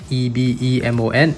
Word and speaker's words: Ebemon: And yes, even though it's spelled E-B-E-M-O-N, it is pronounced Ebemon.